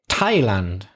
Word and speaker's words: Thailand: voiceless no vibration the next word is a place Thailand Thailand I think that's easing that's group 3 that's the hard sound next word gothic for